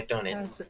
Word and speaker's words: Dönitz: talking about Dönitz. Yeah, Dönitz, yeah. Yeah? Yeah, Dönitz, I think. Let me look. I have the Wikipedia page open. Dönitz? Yeah, Dönitz.